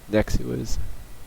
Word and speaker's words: Nexuiz: It's a fork of Nexuiz, spelled Nexuiz.